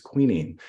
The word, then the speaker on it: quinine: on the afterlives of quinine or what some pronounce as queening queenies is an anti-malarial